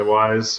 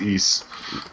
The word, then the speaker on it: Ys: to pronounce it yeah Wise Wise I'm pretty sure it's e um but it's a